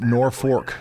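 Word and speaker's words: Norfolk: So, Norfol, Nebraska is pronounced Norfork according to the internet by locals.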